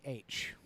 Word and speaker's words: Middlesbrough: versus Middlesbrough, which is Middlesbrough. If you need me to respell that, I can.